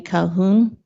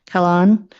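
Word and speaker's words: Kahlon: the Minister of Housing Ravi Calhoun C I say his name wrong Kalan and uh he was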